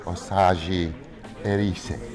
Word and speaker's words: Osage-Erese: OSAGE-ERESE.